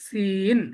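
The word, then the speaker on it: سين: সিন, এটা একটু তিন চিকন করে উচ্চারণ হবে, চিকন করে, যেমন ইংরেজিতে সিন, এস ই এন, ইংরেজিতে ফুল একটা শব্দই আছে, এটা কি উচ্চারণ করেন? সিন, তাই না? সিন, সিন, তাই না? সিন, এইটার যে উচ্চারণটা সিন, এটা ঠিক সেম।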